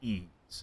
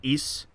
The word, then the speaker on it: Ys: started with Ys Origin back at the end of 2018.